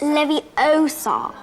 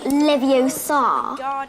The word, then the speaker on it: Leviosa: someone's eye out besides you're saying it wrong it's leviosa not leviosa you doing then if